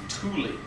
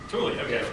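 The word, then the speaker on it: Thule: given you the pronunciation it's actually Tuli Tulie base um tul air base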